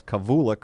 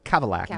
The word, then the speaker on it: Kavulak: Because his name is spelled Kavulak, and I Yes. thought it's Kavulak or something like that, and it's like the car, it's Kavalak.